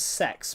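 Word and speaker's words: CeX: C E X actually does pronounce sex because it does actually pronounce that.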